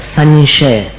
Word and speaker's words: संशय: उच्चारण इसी तरह संशय संशय का उच्चारण कैसा है? न जैसा नहीं है। वो श जो आया ना आगे शक्कर वाला। उसमें अपने को अनुस्वार का उच्चारण मिलाना पड़ता है। संशय आ गया ना समझ में?